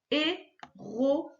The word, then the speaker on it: héroïne: Une héroïne. Bon, il est encore plus spécial celui-là. On n'entend pas du tout ouin, on entend O-I-N.